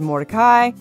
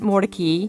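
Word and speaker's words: Mordecai: way to put it I've heard it called morai morai and I was told by one of the curators at the museum that the family called it Mori because they were wanting to get away from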